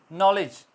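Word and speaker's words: knowledge: बोला जा रहा है नॉलेज नॉलेज के अंदर के silent rest of D world bill B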